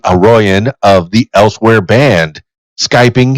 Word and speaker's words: Aroian: Yeah, it's pronounced Aroian. Aroian. Oh, that is so sweet, man. What's the etymology of that? Yeah, it's actually Armenian.